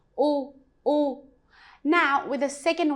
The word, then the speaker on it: u: It's very similar to English. Is just a little bit longer sound. Oo.